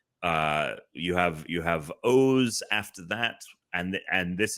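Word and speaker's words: OOO: Then O's was three and it had three different like uh it had the three O's. It's it's O O and it's pronounced O's which was always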